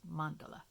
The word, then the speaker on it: mandala: kind of accent um the accent goes on the first part of the word so it's Mandela anyway circles it's the